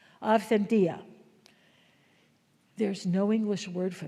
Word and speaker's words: authentia: Aentia. We say we don't pronounce a hard t. Aentia.